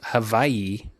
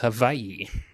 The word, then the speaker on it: Hawaii: Hawaii this is uh actually pronounced havayi if you want to get technical CU they do not have a w in their alphabet they just have a a a v so yeah it's actually